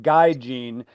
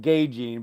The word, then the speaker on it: Guy Jean: Yeah, and it looks like Guy Jean, and you actually pronounce it Gay Jean, but he wants it pronounced Guy Jean.